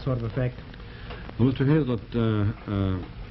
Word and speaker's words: Hazlitt: Hazlitt, that's pronounced Hazlitt, right? That's right.